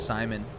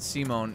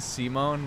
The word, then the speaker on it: Simon: Simon which I mean they don't say it like you know they pronounce it Simone in the Japanese too but I think everyone just assumed it was supposed to be Simon and then when the dub came out and they do it if like you know they actually pronounce it like they do in the Japanese which is Simone then suddenly everybody started